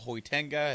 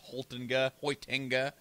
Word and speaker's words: Hoitenga: Her name is Michelle Hoitenga. If you remember, I mispronounced that as Hoitenga.